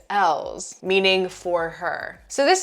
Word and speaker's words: Elles: Some people, I thought it was pronounced eyes, like a Y. Some people think it's elves, but the official name is ELLES, meaning for her.